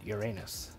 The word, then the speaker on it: Uranus: You'd think that a big brown noser like that wouldn't have objected to naming the planet Uranus. In 1782, Johann Bode proposed the name Uranus, pronounced Uranus, after the Greek god of the sky.